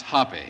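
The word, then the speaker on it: Hoppe: billiard champion and uh it's pronounced hoppy that's what i said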